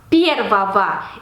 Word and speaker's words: первого: Lo transformamos en caso genitivo añadiendo terminación ogo que se pronuncia como ova. Первого.